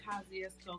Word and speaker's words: Kosciuszko: You gotta know you from Kosciuszko because you know how to say it.